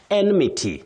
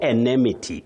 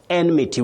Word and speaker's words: enmity: Enmity. Not enemity. Enmity. Common but wrong. You say enmity. We have an enemy. But this noun you say enmity, not enemity.